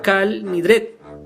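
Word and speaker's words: Kol Nidre: melodía del famoso canto colindres todos los votos los judíos sefardíes lo pronuncia cal nidré se dice que se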